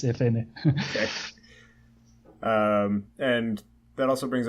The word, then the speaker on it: Efene: Note that I say FN because many people say FN too. So I tend to say FN, but the correct pronunciation is Efene.